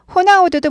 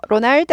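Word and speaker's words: Ronaldo: 호세 예 그래서 어 호나우두도 뭐예요 이렇게 쓰잖아요 로날드 아니고 호나우두 이렇게 읽죠 호나우두이 아도 발음 나고도 흐 발음 나는 거예요 영어랑 좀 다릅니다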